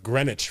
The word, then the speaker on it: Greenwich: But Greenwich, for example.